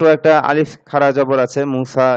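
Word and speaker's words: موسى: আলিফ খারা জবর আছে মুসা এরকম উচ্চারণটা তো মুসা কখনো মুসু মুস এরকম হয় না আর কি হ্যা মুসা নামটা মুসা এরকমই থাকে ইসমে মানকুস আলিফ আলিফে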